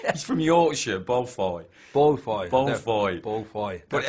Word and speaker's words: Beaufoy: I don't know that when you initially read Simon Beaufoy, is that how you pronounce his name?